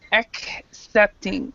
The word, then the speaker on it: accepting: this word right here when you have the two C's together sometimes they have two sounds and sometimes they have one sound with this one they have the two sounds so it's it's accepting so accepting perfect accepting